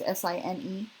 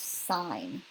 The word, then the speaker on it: sine: the full word is s int but they abbreviated as si n okay do not pronounce it sin it is still pronounced sign like almost kinda like